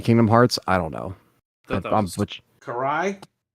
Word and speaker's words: Karai: i yeah I don't they called Karai Karai yeah cuz that's uh Shredder's stepdaughter and like Ninja Turtles that's how they say it so I don't know